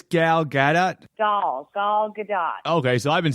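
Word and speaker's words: Gal Gadot: I believe it's gal-gadot.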